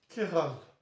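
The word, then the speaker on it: chiral: de l'acide lactique et Keral et Keral ça s'écrit chéral mais ça se lit qual donc dès qu'elle est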